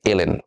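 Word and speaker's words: ln: সো অনেক সময় টিচাররা আমাদের পড়াইতে পড়াইতে এটারে লন বলে, বাট এটা লন বলাটা আসলে উচিত না। ঠিক আছে, টিচার যদি আপনার লন বলেও আপনি এটারে দয়া করে নিজে বলার সময় এলএন হিসাবে উচ্চারণ করবেন।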